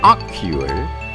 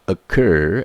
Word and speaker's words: occur: pronounce this word is that how the way you pronounce it ocular or so the correct pronunciation of this is occur in American English so I am using